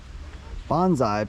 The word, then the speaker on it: bonsai: Last stop, the bonsai garden. We saved the best for last. All right. Oh. Oh. Konnichiwa. Konnichiwa. Arigato. What do we got here? What is a bonsai? Bonsai, pronounced bonsai, is a Japanese word that literally translates